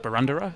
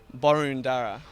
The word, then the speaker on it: Boroondara: controversy in recent times people saying it is actually pronounced baranda is there any truth to that I think what I get gather from the council it's um borunda borunda so not Banda no no borunda there you go you've